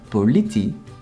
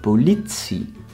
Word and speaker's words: politie: It's not politie, but politie.